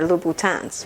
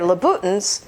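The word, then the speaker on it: Louboutin: lutan about the shoes instead of saying they're luans right now if you say they're luttin that's wrong on the ignorance end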